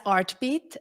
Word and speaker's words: RTBT: perfect so rtb is uh pronounced as artbeat um and it's actually it combines everything that that is so important for all of us so it's art heartbeat hearts and and the ongoing rhythm of our life and uh that inspired